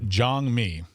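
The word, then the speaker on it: 장미: It's pronounced Jangmi. It's Jangmi.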